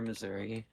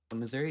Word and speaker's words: Missouri: here's your Missouri fact Missouri is the only US state that has no official correct pronunciation some some of the common pronunciations include Missi misura and Misouri and in Canada we call it Missouri go also let's just